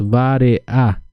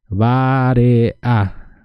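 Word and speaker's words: vareʼa: Y les quiero repetir uno a uno para que puedan así fijarse más en la pronuncia. La primera es fácil. Hambre. Hambre decimos vare-a. Vare-a.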